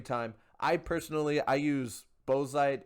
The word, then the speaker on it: bauxite: i personally i use bozeite and or bauxite if you want me to pronounce it correctly i use that uh